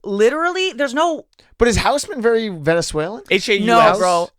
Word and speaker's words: Hausmann: Did I say it right? Wow, that is actually the most incorrect my last name's ever been pronounced. Really? What the fuck is wrong with Hausmann. you? Hausmann. Yes. Houseman? Yeah, there you go.